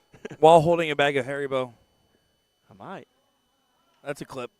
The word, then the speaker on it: Haribo: While holding a bag of Haribo. I might. That's a clip. Is it Haribo or Haribo? Because I think it's Harbo. Harbo in the States, I think it's Haribo is the natural pronunciation.